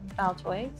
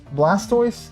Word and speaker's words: Blastoise: Baltoys. What's that? A Pokémon. Blastoise. Oh, am I saying it wrong?